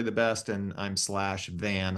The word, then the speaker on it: Van: like that you said it's van like the car and like the avocado it tickled me so